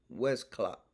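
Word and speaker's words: Westclox: old clock made by west clock westcott west clock is spelled w e s t c l o x west clock look at the design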